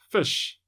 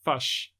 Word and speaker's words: fish: It's pronounced fish, not fush.